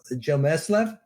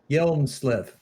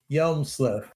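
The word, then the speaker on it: Hjelmslev: going to have to tell me how to pronounce this name it's joe jomesslav yelmusliv yelmsliff yelmsliff okay i'll try please keep correcting me okay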